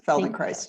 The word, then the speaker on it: Feldenkrais: Her journey has included completing level 1 Trager training and studying the work of, Feldenkrais. Did I say it right? Yes, Feldenkrais.